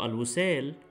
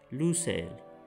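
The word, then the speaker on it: لوسيل: ah sound in al so al-usal is pronounced as lusail it is clear that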